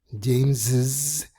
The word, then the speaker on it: James's: Cuando hablo de colocar una vocal adicional me refiero a una I porque es imposible pronunciar una doble S. James no es posible, así que necesitas una vocal. Y la segunda S suena como una Z.